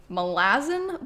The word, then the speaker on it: Malazan: First up on the list would be the next book in the Malazan Book of the Fallen series. That is apparently how the author Steven Erikson pronounces the series name.